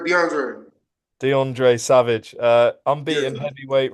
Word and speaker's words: DeAndre: is it DeAndre or DeAndre DeAndre you you pronounced it right DeAndre DeAndre Savage uh unbeaten heavyweight rank 15 uh